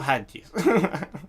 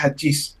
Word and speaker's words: Hadjis: Yo siempre he dicho Hajiz. Claro, porque es lo lógico, pues, a ver, es lo gramaticalmente, Sí, ortográficamente correcto. correcto. Solamente que realmente se pronuncia Hachis, pero debería tener un acento en la I.